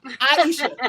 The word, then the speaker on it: Iyesha: Iyesha. Iyesha.